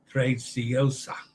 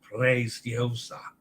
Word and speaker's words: Preziosa: Preziosa. Roll the R. Preziosa. And remember the Z is TZ. Yeah. Like in pizza.